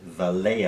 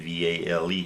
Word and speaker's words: Vale: And I bought Vale, I guess is the pronunciation, VALE, and I paid $13.63 per share.